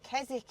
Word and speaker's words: Keswick: put silent letters in I think it's KZ it's like knife beginning with a K it makes absolutely no sense whatsoever does it it's it's spelled Keswick Keswick but but I know because people have said it it's kezic isn't it so why is it